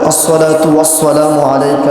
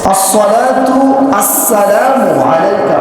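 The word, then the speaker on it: الصلاة والسلام عليك: অনেকে বলে আসসালাতু ওয়াসসালামু আলাইকা ইয়া রাসূলুল্লাহ, সবগুলাকে একদম চিবিয়ে সওয়াব বানায় ফেলে। মূলত হবে আসসালাতু আসসালামু আলাইকা। প্রথমটা সওয়াব, পরেরটা কি? সিন। প্রথমটা সওয়াব, পরেরটা সিন।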